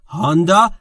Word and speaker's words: Honda: هوندا تلفظ درسته.